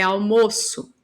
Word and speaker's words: almoço: substantivo não tá almoço ele é fechado a pronúncia é almoço substantivo agora eu vou falar